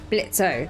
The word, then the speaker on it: Blitzo: Blitz O. The O is silent.